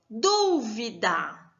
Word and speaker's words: dúvida: O da é a última sílaba. O vi é a penúltima e o du é a antepenúltima sílaba. Então, ela sendo a sílaba tônica e estando em antepenúltima, ela é uma palavra proparoxítona.